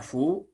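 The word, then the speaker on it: ふ: Kemudian yang berikutnya Fu. Ini huruf Latinnya boleh dengan F dan U, Fu, atau H dan U, Fu ya. Jadi bunyinya seperti kita meniup lilin dibunyikannya Fu ya.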